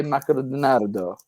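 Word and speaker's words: マクドナルド: but Do not you say to your friends, "Hey, let's go eat at Makurudunarudo"? McDonald's, McDonald's. Yeah, but in Japan they don't say McDonald's. They say Makurudunarudo.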